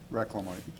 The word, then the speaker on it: Reclamite: Item A4 is approval of a 1-year contract with Corrective Asphalt Materials for the Reclamite, did I pronounce that right? Reclamite.